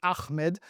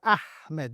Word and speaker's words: Ahmed: He's like, no, it's Ahmed. You fill it up. Ahmed. Ahmed is not a person. Maybe there is, I don't know, but it's not the way you pronounce it. This is basically the noise you make when your throat is itchy.